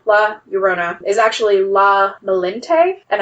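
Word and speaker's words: Malinche: urona is actually la malente and i may be completely butchering that because it's spelled m-a-l-i-n-c-h-e but the phonetic spelling that i found of it was malente they're sometimes compared as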